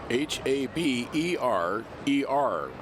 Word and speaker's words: Haberer: Throws you off a little bit because the last name is spelled Haberer, but it's pronounced Haber.